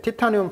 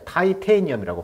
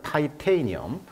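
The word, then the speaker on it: titanium: 그런 외관을 갖고 있는데 티타늄 발음은 영어로는 타이테인염이라고 발음합니다 자 티타늄을 영어로는 타이테이니엄 티타늄의 외관을 갖고 있고요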